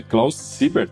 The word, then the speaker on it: Klaus Siebert: Opa, André, é uma alegria estar aqui também, uma honra, obrigado pelo convite e vamos lá, André, é Klaus Siebert, é isso mesmo, tá perfeito.